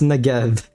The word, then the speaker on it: Negev: It's pronounced Negev, but I'm sure you know what I'm talking about. The Negev incident. You gotta pronounce that V at the end.